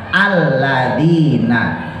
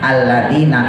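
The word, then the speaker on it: الَّذِينَ: diwasolin hilang aumul ladzina tapi ketika kita memulainya ibtida namanya maka a-nya harus kita kasih harokat alladziina Jadi enggak boleh dibaca lagi Natal dagu ya Enggak boleh kita harus bacanya alladzina kazza bus seandainya kita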